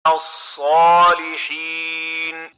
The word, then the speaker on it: الصالحين: الصالحين As-salihin, not so, but sa.